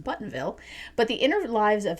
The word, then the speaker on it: Bothanville: The sinister bridge is meant to usher in a new era for Bothanville, pronounced Buttonville, but the inner lives of several characters, including Harriet's, fall victim to its supernatural influence.